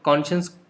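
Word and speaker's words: conscious: और कॉन को बोल्ड में लिखा है, इसका मतलब कॉन पे स्ट्रेस रहेगा। सो आपको कॉन्शियस नहीं बोलना है, कॉन्शियस बोलना है, तो कॉन पे ज़्यादा स्ट्रेस रहेगा।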